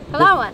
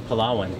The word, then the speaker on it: Palawan: rice and white rice I spelled it wrong palan no yeah this says Palawan Palawan you said it's spelled palan we've got some fried chicken grilled